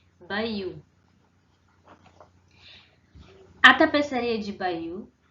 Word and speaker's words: Bayeux: Então, a pronúncia, procurei para vocês, seria mais ou menos assim, Bayeux.